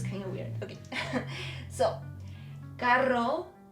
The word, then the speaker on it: carro: Because if you pronounce this R soft, as if it was just one, the meaning is different.